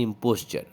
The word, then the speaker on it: imposter: इम्पोस्चर, ये वाला स्पेलिंग इसका मतलब होता है पाखंडी, इम्पोस्चर, IMPOSTER, लेकिन इसका प्रोनाउंसिएशन होता है इम्पोस्चर।